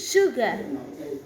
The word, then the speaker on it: sugar: You may not know this as English break with the letter S, but pronounce S. Sugar, sure.